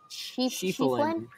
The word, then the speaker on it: Schieffelin: Ian Schieffelin. Yeah, Schieffelin.